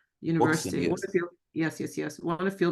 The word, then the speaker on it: Woxsen: This is, how do you pronounce this university? Woxsen, right? University. Woxsen, yes.